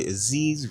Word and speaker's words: Aziz: It's your boy Aziz, Rhymes with Disease.